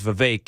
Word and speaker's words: Vivek: State Fair and said, "My name's Vivek, and it rhymes with cake." So she was just saying, it's Vivek, not Vivek.